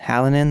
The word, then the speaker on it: Hallinan: south carolina and today i am with owen hallinan that's how you pronounce your last name it was actually really